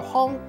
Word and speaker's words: 魴: 今仔日小解即一日读作行，也有人读作风，提供予观众朋友来参考。